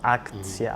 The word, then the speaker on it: акция: It's like in English ac-tion, action, in Spanish acción, so aktsiya, ação, yeah.